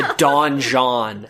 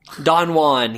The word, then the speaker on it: Don Juan: like he's the is the donjon he's the oh my god it's pronounced on one Don Juan he's the Don Johnson